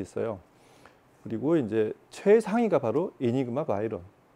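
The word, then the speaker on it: Enigma Veyron: 이름이 이니그마 바이런, 뭐 베이론이라고도 하는데, 제작자의 발음을 들어보니 이니그마 바이런 4D.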